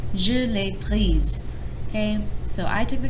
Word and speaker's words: prise: So now sometimes when we make the past participles agree with a direct object pronoun, it changes the pronunciation. So here, pris, just like normal, nothing changes. However, j'ai pris la guitare. J'ai pris la guitare. I took the guitar. I took it. Je l'ai prise.